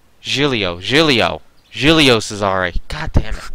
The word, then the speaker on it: Giulio: And you say Gilio. Try saying Gilio like you say... Djibouti? Giulio.